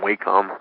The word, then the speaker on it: Wacom: Brown use it I don't know how to pronounce it but I always say wait compounds and Wacom Wacom Thank You AFE om I've tried that and